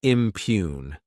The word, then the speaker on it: impugn: Next is the verb impugn. To impugn this word has two syllables and the stress is on that second syllable.